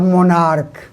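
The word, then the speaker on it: monarch: उसका अंग्रेजी होता है मोनार्क एम ओ एन ए आ सी एच यहां सी एच का उच्चारण को है तो इसका भी थोड़ा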